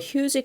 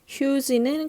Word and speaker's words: huge: 만들었는데 a huge cloud of ash 여기도 마찬가지로 명사 of 명사이기 때문에 뭐 재 huge는 거대한 이란 뜻의 형용사예요. 발음이 조금 특이해요. huge가 아니라 huge라고 발음이 될 거고 cloud는 구름이란 뜻이죠.